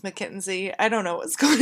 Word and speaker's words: McKinsey: was very tied to mackenzie future ariel here i know it's pronounced mckinsey i don't know what's